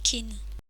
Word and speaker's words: 金: ou le métal et il se lit souvent Kin son tracé s'effectue en huit traits commencer par